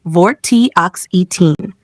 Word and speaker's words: Vortioxetine: Had vortioxitine complete drug monograph one basic information generic name vortioxitine pronunciation vortoxine drug class anti-depressant serotonin modulator and stimulator brand name trenelix United States Canada EU Brentellix, former brand name in some regions.